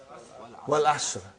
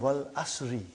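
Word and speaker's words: وَالْعَصْرِ: How do you say Suratul Asr? What is the first ayah? Wal Asr. Have you ever noted down what is written there? It's called Wal Asri.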